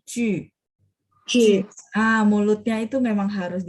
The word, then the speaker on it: 据: Cuman karena J ketemu U, itu mulutnya masih setengah bulat, Ibu. Jadi Ju.